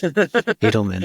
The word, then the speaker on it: Eidelman: I'm the only Eidelman, by the way, is how it's pronounced, but it's Eidelman.